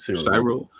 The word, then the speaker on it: Cyril: been training his nephew, I don't know how you say his name, Cyril? Is it Cyril, Adam? Is that how you say his name? Yeah, that's how I've heard it. Cyril.